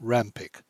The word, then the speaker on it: Rawnpike: voice abraham heracles and josh rawnpike pronounced rampik these men were accustomed